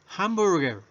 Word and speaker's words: hamburger: verdad es a veces está h esta h en palabras en inglés verdad la pronunciamos como j como una jota o una fuerte en